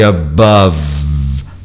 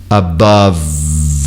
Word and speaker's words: above: O V, voice, voice, waver e above, above. Olha aí, o E final não existe, eu fecho a questão sonora no V, above.